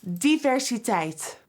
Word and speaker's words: diversiteit: Diversiteit *begins pronunciation of word* -Di- -ver- -si- -teit- Juvia's Place is always bringing the 'diversiteit".